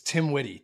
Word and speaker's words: TMWITY: So it's Tim Witty, TMWITY. So it's the acronym for Tim Watley.